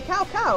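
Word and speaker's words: Cao Cao: where the enemy officer will start else apparently cow cow is here like how cows sow sow that one I knew how to pronounce I just messed up you can see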